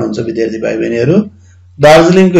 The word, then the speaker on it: दार्जिलिङ: विद्यार्थी भाइ बहिनीहरू, दार्जिलिङको हेर्नुभयो भने दार, दा सँग र, जी छुट्टै उच्चारण हुन्छ। अनि फेरि ली सँग आदि ङ, हलन्त ङ को उच्चारण हुन्छ, दार्जिलिङ।